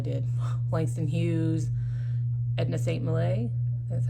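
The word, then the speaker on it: Millay: Malay, that's how you say her name.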